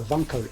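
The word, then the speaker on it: Wankel: of engine used is called a vanko engine, which is very funny cuz in German that's spelled W.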